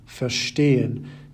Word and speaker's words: verstehen: You may have noticed that all the words on the left-hand side have their stress on the second half of the word, bekommen, vergessen, besuchen, versuchen, verstehen, gewinnen, and entscheiden. Separable verbs, on the other